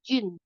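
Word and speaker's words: 子: Z I bacanya ci.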